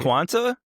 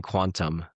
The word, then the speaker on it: Quanta: Um, what's it called? The Quanta. Yeah, there's no quant. You've been saying quantum just like how with the element six you've been saying.